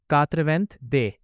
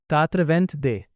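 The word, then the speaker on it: quatre-vingt-deux: इसीलिए 82 का फ्रेंच में प्रोनंसिएशन होगा कातवेंथ दे। तो बोलिए कात्रवेंथ दे।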